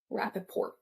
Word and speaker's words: Rappaport: Rappaport? Rappaport. Yeah, you pronounce the T.